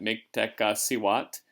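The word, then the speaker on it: Mictecacihuatl: big long word there miktaka siwat is her name and there's a somewhat accurate pronunciation of that miktec siwat she was the goddess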